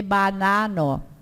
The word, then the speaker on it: banano: A vogal lá nunca é anasalada. Antes o M e o N. O M e o N são mais anasalados, mas o A não. A gente tem que cuidar quando pronuncia antes do M e do N para não anasalar. Por isso que vocês viram eu dizer banano. Não é banano, é banano. Compreendas?